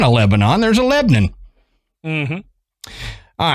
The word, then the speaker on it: Lebanon: It's spelled like Lebanon, but it's pronounced Lebanon.